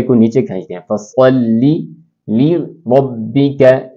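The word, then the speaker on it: لربك: نیچے کھینچتے ہیں۔ فصلی لربک لربک، اسی طرح را زبر کی وجہ سے پر ہو جائے گی، لربک وانحر وانحر۔ یہ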